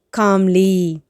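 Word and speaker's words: calmly: Think காம்லி. Think காம்லி. காம்லின்னா என்னது? அமைதியாக. இதில் கால், அந்த CAL, இதில் இருக்கக்கூடிய எல் வந்து silent letter. So we don't need to pronounce it.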